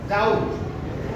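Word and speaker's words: doubt: তারপরে আমরা দেখতে পাচ্ছি আমরা যেটা নরমালি ডাউট উচ্চারণ করি প্রপারলি, কিন্তু এখানে বি বি আছে, কিন্তু বি এর উচ্চারণটা আসবে না। কি হবে? ডাউট।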